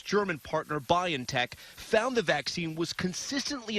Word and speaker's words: BioNTech: PFIZER AND ITS GERMAN PARTNER BIONTECH FOUND THE VACCINE WAS CONSISTENTLY EFFECTIVE ACROSS RACE, ETHNICITY AND AGE.